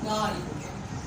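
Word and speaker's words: guard: For example build, for example गार्ड, यहाँ पर यू की प्रोनाउंसिएशन नहीं रखी जाएगी।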